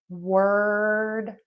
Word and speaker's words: word: So, word is pronounced w er d, like er, just the short er sound. Word.